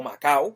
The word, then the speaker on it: Macao: O sea, obviamente vamos a estar hablando del cacique Humacao, o Macao, que es como en verdad se pronunciaba su nombre, que inclusive leyendo la